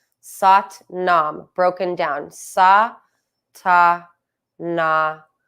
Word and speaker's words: Sat Nam: So we're splitting it into 4 syllables. And to give you something tactile, meaning touch, to focus on, each syllable will be each finger. Thumb to index, thumb to middle, thumb to ring, thumb to pinky, while you say the 4 syllables sa, ta, na, ma.